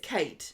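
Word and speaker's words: Cait: Lauren yeah and um it's cat fit Kate fit yeah I always say her name wrong sorry it's Kate yeah yes so um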